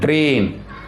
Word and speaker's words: train: So first letter only we have to pronounce. Okay. And second letter will be silent.